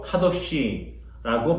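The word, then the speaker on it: קדש: 여기에 나오는 가데스는 히브리어 원어로 카도시라고 발음됩니다. 카도시는 거룩이라는 뜻을 담고 있습니다.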